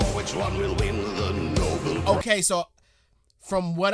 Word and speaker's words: Nobel: It's so crazy how it is just Nobel Prize, but we pronounce it Nobel Peace Prize, but we won't say, oh, he's such a Nobel man. We just say he's a noble man.